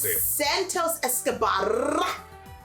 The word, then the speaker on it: Santos Escobar: we got centos esco i want you to roll your r's for this one say it santos escobar i can't do that